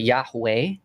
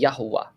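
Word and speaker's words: יהוה: It's nobody would ever pronounce it Yahweh because there's no long Yah vowel. There's not. It's just Yod He Vav He. So it would be quick vowels, Niqud. So it'd be Yahuwah. There's no A.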